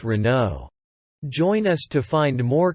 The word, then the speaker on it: Renault: this french multinational automobile manufacturer how do you pronounce this brand reynold no it's wrong the right pronunciation is renault renault renault speak once more renault yes perfect the renault corporation was founded on